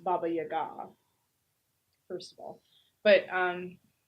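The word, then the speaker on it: Баба-яга: sent to the Baba Yaga and it's actually pronounced Baba Yaga first of all but um she saves herself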